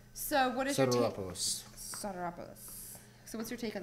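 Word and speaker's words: Sotiropoulos: I can never pronounce his last name. I feel so bad. Try again. Stropolis. I can't remember like the actual pronunciation. You'll have to. Soteropoulos. Like. Actually, George told me I said his name really good. Soteropoulos. Actually, he said all Americans can say it.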